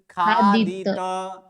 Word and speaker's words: खादित: खादित। खादित नहीं तो आधा नहीं है, तो कैसे है? संपूर्ण। तो का उच्चारण संपूर्ण करना, यानी खादित।